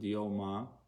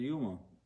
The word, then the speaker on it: Yoma: Some pronounce it Yoma, and some pronounce it Yuma.